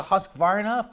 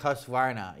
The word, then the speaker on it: Husqvarna: It's a hit between, you know, some people like Steel, some people like Husqvarna, you know? Husqvarna. It's not Husqvarna. It's Husqvarna. I pronounce it Husqvarna. I say Husqvarna. It's Husqvarna. Anyways, so those are the top ones.